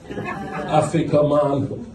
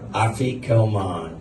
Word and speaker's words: afikoman: Afikoman. That's how they say it. Afikoman.